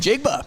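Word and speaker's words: Smith-Njigba: All right, Jackson Smith and Ngaba from the Seahawks. And Jigba. And Jigba, yeah, that's how you say it.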